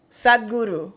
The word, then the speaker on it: Sadhguru: Sadhguru.